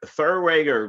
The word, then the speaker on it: Therwanger: an accurate way of thinking we got Eric Thor rager right did I say It Right Thurr we